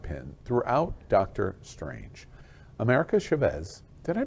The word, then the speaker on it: Chavez: America Chavez, did I pronounce that right?